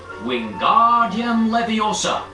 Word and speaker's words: Wingardium Leviosa: The magic words for the levitation charm are Wingardium Leviosa. Be sure to make the gar nice and long.